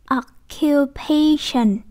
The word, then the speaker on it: occupation: Ở đây các em thấy nè, occupation. Ở đây thì có một cái mẹo, tức là trước cái duration này chúng ta nhấn cái chỗ này, được không? Nhấn cái ấy ha, occupation, occupation đó.